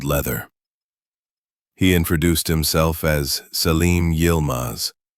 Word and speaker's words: Selim Yilmaz: He introduced himself as Selim Yilmaz, pronounced Selim Yilmaz, a Turkish émigré and former associate of Layla's family in Istanbul.